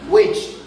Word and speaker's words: which: La H no es muda porque tiene la vocal y por eso se pronuncia how, which, cuál. Como no hay vocal o no suena la H.